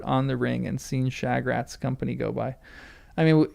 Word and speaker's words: Shagrat: Shagrat is fine pronunciation.